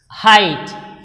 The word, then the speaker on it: height: Look at the word height. We say height. So, here this is completely silent.